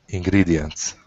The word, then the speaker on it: ingredients: Ingredients. Ingredients. Okay, good. So that E is a long E sound, ingredients.